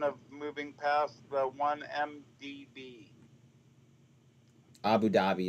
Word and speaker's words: Abu Dhabi: oh well um Goldman to open Abu Dubai office in sign of moving past the 1mdb Abu Dhabi is what oh that's pronounced just so you know